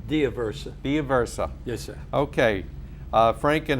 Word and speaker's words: D'Aversa: the Veterans Court in Nassau County and Frank de Bercy oh I screwed that name up too didn't I yes sir thank you diversa DIA versa Thea versa yes sir okay Frank and Howard I'll call